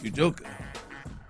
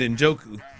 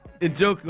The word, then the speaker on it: Njoku: know if he's up there with the David Ujoka. David Njoku. I don't know if he's up What there. are you saying? I had to talk myself into. How do you say David's last name again? Njoku.